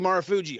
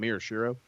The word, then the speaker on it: Marufuji: Thank you, Marufuji. I've been trying to fucking say his name. I don't know why I wanted to call him Miroshiro.